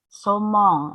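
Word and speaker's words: saumon: Wala, somong. Karena kalian sudah tahu bacanya A ketemu I dibaca O ya. Gak akan bacanya salmon ya, salmon apa-apa gak ada. Ya, bacanya somong.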